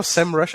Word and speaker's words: Semrush: give you an example perfect example you know semrush i see how do you pronounce this semrush rcm that's a topic going